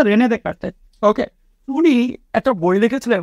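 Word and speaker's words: René Descartes: তো ওনার নাম হচ্ছে রেনে ডেকার্টে, রেনে ডেসকার্টে। ওকে, উচ্চারণটা হচ্ছে রেনে ডেকার্টে।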